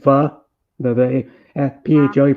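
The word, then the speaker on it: phở: It's supposed to be like a fake restaurant name, but it's called F-ine because you pronounce it pho.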